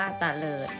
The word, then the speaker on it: เตลิด: คะ เตลิด นะ คะ อ่าน ว่า เตลิด นะ คะ เตลิด ก็